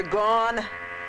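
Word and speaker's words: Gaughan: Gone, you pronounce it. Yeah. Here today and gone tomorrow?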